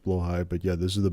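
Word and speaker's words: Blåhaj: Blowhai. Is blowhai you're you're trying to pronounce? I I prefer blah blah blah. Anyways, I I I did too at the beginning, but apparently it's pronounced blowh high.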